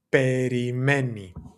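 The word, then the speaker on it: περιμένει: Perimei spelled like this. Perimei having that e sound at the very end to refer back to he, she, it, right?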